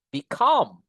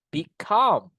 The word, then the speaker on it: become: Ini become ada dua sukata ya be sama come syllables penekanannya nanti guys di suku kata yang kedua. Jadi kita mau bilang become no just say become ada penekanannya kan? become gitu guys.